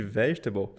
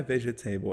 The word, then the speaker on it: vegetable: A gente vê esse table no finalzinho de vegetable e a boca até coça para falar table, porque table, né? É clássico. Só que a pronúncia não é vegetable, é vegetable.